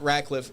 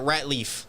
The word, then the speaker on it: Ratliff: that was it's it's it's not rackliff it's a common thing yeah it uh the way I it to that think think like rat Leaf like that's what my